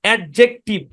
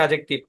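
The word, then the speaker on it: adjective: এভাবে বলি আমরা তো এখানে এই যে ডি টা আমরা উচ্চারণ করি কিন্তু ভাই এটা ডি টা সাইলেন্ট এডজেক্টিভ এই শব্দের উচ্চারণ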